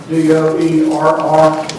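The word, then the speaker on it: Doerr: That's spelled D-O-E-R-R, Doer.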